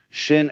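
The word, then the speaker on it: 心: In Chinese, mind is pronounced end quote, Shin end quote, and it's here understood as the heart-mind or psychic center.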